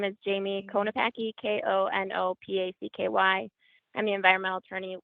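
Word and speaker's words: Konopacky: you so much Commissioners my name is Jamie konapaki k-o-n-o-p-a-c-k-y and the environmental attorney with the wider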